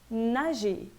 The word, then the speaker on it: nager: Mas quando ele termina em R, quando a palavra termina em ER, esse R, via de regra, não é pronunciado. Então, eu vou ler parler, manger, nager.